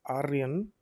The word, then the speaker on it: Aryan: Like, for example, if we had a term called as Aryan, that's how you properly pronounce it, or Arya.